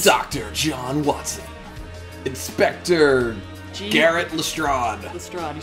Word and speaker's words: Lestrade: Inspector Garrett Lestrade.